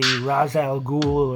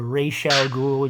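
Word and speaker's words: Ra's al Ghul: was actually raised by the razal ghoul or Rachel ghoul you can pronounce it the way you want I don't mind um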